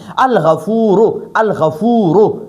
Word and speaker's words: الغفور: دا ګورئ دا غین حرف قمری دی، حرف قمری. نو د حرف قمری په شروع کې چې الف لام ولګي نو بیا به په لام تلفظ کېږي، لام به وایو.